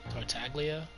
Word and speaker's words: Tartaglia: basis wait that's how you say his name tartaglia fine by me I was in a bad